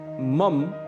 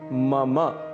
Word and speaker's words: मम: इसे मम बिल्कुल भी नहीं कहना है। इसका शुद्ध उच्चारण है मम। मम अंत में अ की ध्वनि अवश्य आनी चाहिए।